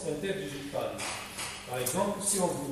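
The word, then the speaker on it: interdigitale: C'est écrit interdigital, mais ça se prononce interdigitalé.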